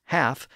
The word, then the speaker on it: half: pronounced as calf, and he pronounces the word half as half when it should be pronounced as half. So again, Holofernes thinks all